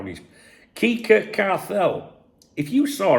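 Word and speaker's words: Quique Cárcel: Now, the sporting director, now this is how he's Kika Carell. If you saw how that was spelled and how you pronounce it, it's hilarious.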